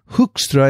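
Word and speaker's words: Hoekstra: did a tweevo with she said yeah hookstra is the way you pronounce her name and leuven hook would be the way you say his name so that's what he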